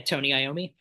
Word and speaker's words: Tony Iommi: Yeah, Tony Iommi.